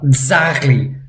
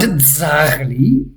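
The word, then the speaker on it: ძაღლი: Dzrocha and dzagli. If you want a tip, I sometimes imagine that I'm saying the word does. I want this z sound to really be pronounced.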